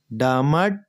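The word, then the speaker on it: डमड्: ये डमड जो नीचे आधा ड है ना ये पहले हलंत ड है और फिर पूरा ड है। तो हलंत वाला जो ड है वो पहले वाले शब्द में पढ़ना है। डमड हल्का सा ड उच्चारण करना है।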